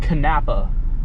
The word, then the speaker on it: Kanapaha: arrived by the way it is pronounced kanapa um that's pretty [